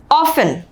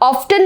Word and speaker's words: often: और ऑफन, OFTEN, ऑफन। ठीक है, तो इसको आप ऑफ्टन नहीं पढ़ेंगे, ऑफन पढ़ेंगे। इसकी सही प्रोनाउंसिएशन ऑफन होगी, जिसका मतलब होता है अक्सर, है ना।